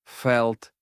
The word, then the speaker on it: felt: або відчув Felt відчутий Зверніть увагу що подвійне і і в першій формі перетворюються на одну літеру і але читається е Feel Felt Felt поєднання літер іa